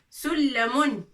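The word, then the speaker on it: سلّم: Sullamun. D'accord? Sullamun. Sin, lam et mim. Mim à la fin. Alors, là, avec shidda, sullamun.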